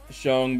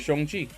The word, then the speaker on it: Shang-Chi: I spell it Shung because it is the true way to say it. Oh, yeah. You say it Shang-Chi.